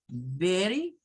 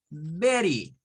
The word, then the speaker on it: Betty: For example, the name Betty, in a normal, American standard pronunciation, like British standard pronunciation, you can say Betty, Betty with the T sound, Betty, Betty. But for Americans, it's most common to use this name and get the pronunciation like a letter R. You will use sound, the R sound, and it's like Betty, Betty, or maybe Betty. It could be in these 2 ways because it's the